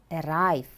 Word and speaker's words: arrive: arrive it's an antonym listen arrive arrive how many syllables are there yes there are two syllables which syllable is stressed the second listen to an example